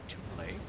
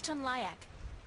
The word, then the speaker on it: Tunlayak: Alright, let's talk to Toon Lake. It's Tunlayak, the navigator.